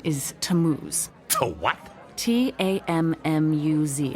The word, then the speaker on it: Tammuz: find them his name is tammuz so what t-a-m-m-u-z it's pronounced tammuz maybe if you show me your